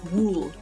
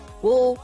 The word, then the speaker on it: wool: wool as in like wool remind Wool rhms with pool as a swimming pool um whereas in my world wool rhymes with the word full or you know the cattle bull that sort of thing